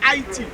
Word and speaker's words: Haiti: But we Haitians, we don't say Haiti, we say Haiti, right? We pronounce it different, Haiti, right?